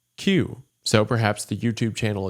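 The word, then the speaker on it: 九: And the number 9 in Japanese is pronounced Q.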